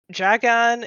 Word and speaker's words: Jagan: Um, so Jagan is just accent on the first syllable.